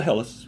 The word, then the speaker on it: Helles: Yeah, I think I rated is it pronounced Helles or Hells? It's a Helles, yeah. Helles, okay.